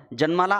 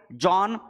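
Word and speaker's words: Jean: इव्होलुशन साठी नाव आहे जॉन Baptist ल्यामार्क एक नॅचरलिस्ट आहेत स्पेलिंग जीन्स आहे बट त्याला रीड करतात जॉन नंतर मॉर्फोलॉजिकल चेंजेस आर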